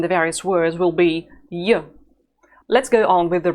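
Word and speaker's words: ё: the sound and the various words will be yo let's go on with the reading practice the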